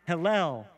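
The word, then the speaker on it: הילל: that name is lucifer lucifer is pronounced hillel in hebrew and it means shining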